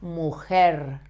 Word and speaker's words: mujer: So, the same, tongue back, avoiding to touch your palate or your teeth, but vibrate a little bit, only a little bit, the tip of your tongue. So, mujer, mujer, her, or por, favor. If you vibrate a little bit the tip of your tongue without touching the rest of your mouth with your tongue, you have this sound.